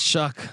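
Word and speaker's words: Shough: Yeah, it's Shuck. Like Shuck.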